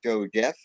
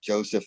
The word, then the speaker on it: Josef: I wanted people to call me Joe Jeff, a name I just made up, and which is why I call myself Joseph now, and the reason I spell it the way I do, not the way an American would spell Joseph, because that's how you would spell Joe Jeff if you ran the two names together.